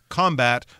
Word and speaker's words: combat: it as a verb we say combat whereas if we're using it as a noun like there's a lot of combat going on in that battle or in that war then we put the stress on the first syllable so the noun combat the verb to combat and so we're combating